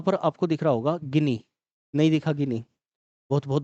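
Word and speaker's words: Guinea: English में इसको ग्वेनी या ग्वेना ऐसे पढ़ लिया जाता है। ठीक है, ध्यान रखना थोड़ा सा। अ, तो जो इसका स्पेलिंग है वो इस तरीके से ग्वेना, तो ग्वेना या गिनी हम इसको देख लेते हैं, हिंदी में गिनी ही बोलते हैं हम इसको।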